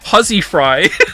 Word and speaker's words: housewifery: Not only is housewifery no longer pronounced huzzy fry, it is almost entirely obsolete as a word.